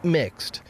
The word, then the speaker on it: Mx: the pronoun Mr., instead using MX, pronounced mixed, a title which does not imply a gender.